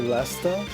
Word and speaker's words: Leicester: I have to remind myself that people say Leicester.